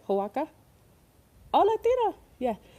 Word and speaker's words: Oaxaca: Oaxaca? Oh, Latina. Yeah, Oaxaca.